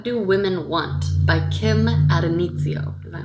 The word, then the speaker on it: Addonizio: And so the poem that I read was called What Do Women Want by Kim Addonizio.